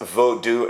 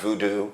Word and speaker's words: Vodou: I'm so happy that he says Vodou and not voodoo, because I keep saying it to you phonetically how it sounds and what it awakens